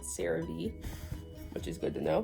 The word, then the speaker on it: CeraVe: brand's name because i was gonna call it karev but it's actually called cerave which is good to know because i would have pronounced it the wrong the whole entire video